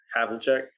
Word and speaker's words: Havlicek: Number 7, I have a hard time pronouncing the name, but John Havlicek.